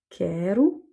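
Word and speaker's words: quero: de figure suivant avec le O qui est en fin de mots et qui va donc se prononcer ou. On a par exemple tenu j'ai kerou, je veux et ça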